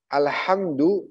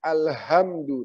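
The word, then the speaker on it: الحمد: Alhamdu dengan ha kecil itu artinya segala puji bagi Allah. Tapi kalau kita bacanya Alhamdu dengan ha besar, artinya fatal, yaitu kematian bagi Allah.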